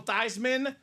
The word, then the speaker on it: Theismann: So for the people that are new to the program, this man, Joe Theismann, the rest of his family is the Thiesman family. Amen. They changed the name to his pronunciation.